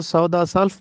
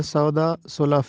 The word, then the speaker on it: سودا سلف: لفظ ہے سودا سلف، ہم اس کو سودا سلف پڑھتے ہیں جو کہ غلط ہے۔ سودا سلف اس کا درست تلفظ ہے۔ ایک لفظ کلی،